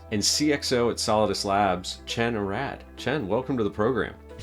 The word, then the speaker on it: Chen: It's spelled Chen, but it's actually pronounced Chen, which is, from Israel, we have those biblical sounds in Hebrew.